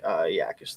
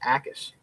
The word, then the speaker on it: Akis: I do think Yakis though is who I'd probably go. Or it's actually I just realized I've been saying it wrong too. It's just Akis. It's Gabe Akis is how you say it.